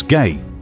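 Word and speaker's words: Gey: These samples were sent to Dr. George Gay, pronounced as Gay, who is the head of tissue culture research at Johns Hopkins.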